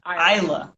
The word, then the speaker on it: Isla: Isla. Isla. Okay, Isla. It's in my head now. We're good. Isla.